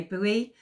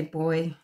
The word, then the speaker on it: buoy: I feel apparently um there's no boy Americans say buoy we say boy Down Under The U